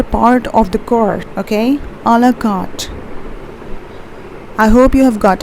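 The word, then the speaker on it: à la carte: Okay, how do you pronounce this as? It's a la carte.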